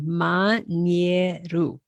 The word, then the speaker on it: Mañero: That's a great example of all the vowels being pronounced, every letter pronounced and pronounced the same way every time. Mañero.